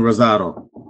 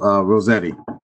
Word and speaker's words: Rossetti: Councilwoman Rosado. I'm sorry, not Rosado, Rossetti. Rossetti, Rosato, Rosette rhymes with spaghetti.